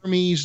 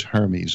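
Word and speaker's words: Hermès: That Apple sells, and it says Hermes on it. Yeah, which well, is a, Hermes. Which does, Hermes, it's pronounced Hermes.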